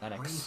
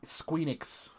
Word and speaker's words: Enix: latest but entry in Square Enix's beloved series, Enix. Bravely Default 2. I never pronounce it. I always released pronounce it this year. Enix. It's Enix. Because I always say Squeenix.